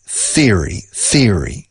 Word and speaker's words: theory: Teoría se dice theory. Ceceando. Theory con la TH inglesa.